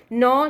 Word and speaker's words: gnaw: Use a dictionary to identify the pronunciation of the following words: gnaw, G silent, monstrous, derisively, plateau, devour.